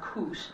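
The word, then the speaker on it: כוש: translating the same exact Hebrew word which is pronounced kush I'm not sure why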